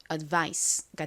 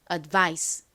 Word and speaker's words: advice: 그래서이 단어를 읽어 보면 advice가 됩니다 아까 말씀드렸듯이이 I 부분에 강세가 있어요 그러니까 advice advice 이렇게 그 부분을 강조를 해서 발음을 해 주셔야 합니다 따라해